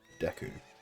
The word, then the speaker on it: Deku: Although I should, living in the country where they made this game, should probably pronounce it the Japanese way, which is Deku.